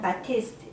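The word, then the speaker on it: Batiste: 사람들이 드라이 샴푸를 많이 써요 미국 유튜버들은 그냥 바티스트 이렇게 발음을 하는 거 같은데 저도 처음에는 드라이 샴푸가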